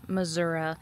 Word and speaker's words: Missouri: in case you're wondering how people from Missouri actually pronounce Missouri it's right here on the sign missoui and like I said